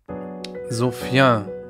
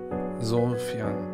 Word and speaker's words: Sofiane: Ja, so spricht man es aus. Sofian, Sofian. Gallusstraße, habe ich tatsächlich mal eine gute Zeit meines Lebens.